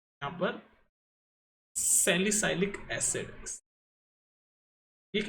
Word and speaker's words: salicylic: और ये कॉलवेज रिएक्शन इसलिए भी इंपॉर्टेंट हो जाती है, सैलिसिलिक बोलते हैं इसको कुछ लोग, मैं इसको सैलिसाइलिक बोलता हूँ। वैसे तो प्रॉपर प्रोनाउंसिएशन है इसकी सैलिसिलिक एसिड।